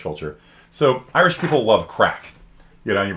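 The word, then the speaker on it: craic: what they love crack yeah so that's a gaelic word it's not you know crack cocaine they love a good crack and uh if you if you're like wait that doesn't look like crack just be aware that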